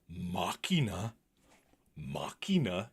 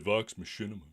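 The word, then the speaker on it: Vox Machina: now the legend deox mchina Machina is at number one it's all because I mispronounced the name isn't it I said Vox Machinima and everyone was all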